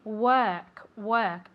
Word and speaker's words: work: perfectly okay but remember we don't say it like an O we say more like an e okay work work otherwise if we say